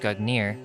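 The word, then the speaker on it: Gungnir: Nordic, Gugnir, Old Norse Gugnir swaying, pronounced Gugnir, is the name of the mighty spear that belongs to the old god Odin.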